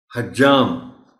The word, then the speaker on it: حجام: وافر ہے، وافر نہیں۔ حجام جیم پر شد کے ساتھ بولا جانا چاہیے۔ اسی طرح قصاب ہے۔